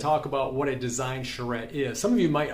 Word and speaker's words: charrette: about that word back there and how you pronounce that word first of all that word is called a charrette and today i'm going to talk about what a design charrette is some of you might already know uh